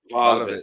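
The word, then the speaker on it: Vlahović: Vlahovic. Vlahovic.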